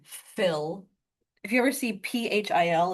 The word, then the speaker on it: Phil: If you ever see ph i l, it's pronounced phil. Yeah. Any ph together is going to be the f sound because it wouldn't exist in English words at all.